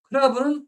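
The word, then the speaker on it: クラブ: 클라브는 클럽의 일본식 발음으로 한국의 아 10%와 영역 방식이 비슷하고요.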